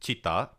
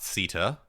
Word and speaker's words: citta: expresses as one's soul bodhicitta it is pronounced chitta uh not Sitta as he mispronounced in his opening video.